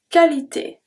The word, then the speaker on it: qualité: Pour sa qualité. Pour. We pronounce everything. Sa. We pronounce everything. Qualité. Qualité de U after Q is silent. De U after Q is always silent. Always, always, always.